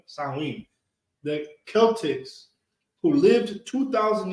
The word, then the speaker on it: Samhain: pronounced slow in No, Samhain. Samhain. Oh, it's like Samhain.